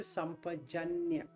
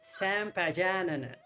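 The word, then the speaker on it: sampajañña: Sam, S-A-M, Sam or Sam. If I were to talk like an American, I should say sampajanna.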